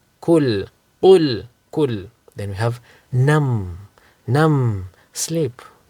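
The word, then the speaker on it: كُلْ: Qul and kul. Qul means say. Kul means eat. So if you pronounce kaf as a qaf or qaf as a kaf, you're going to change the meaning, right?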